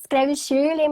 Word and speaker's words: Shirley: E essa pergunta, essa frase que você falou logo no começo, se escreve Shirley, mas fala Shirley, quantas vezes você já falou isso na sua vida?